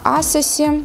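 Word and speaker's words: ASOS: Австралийская очень классная косметика, которой, по-моему, у нас пока нет, но я нашла ее, к счастью, на Асосе, точнее на Асос, для тех, кто любит правильное произношение.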